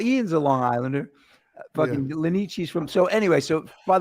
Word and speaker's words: Lanese: They think Lanici is Lanice, and it's Lanici.